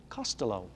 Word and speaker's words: Costello: here's an interesting one costello or to pronounce it more correctly costello costello now this is one